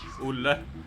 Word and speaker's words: Olle: Olle. Olle is how you say it in Swedish.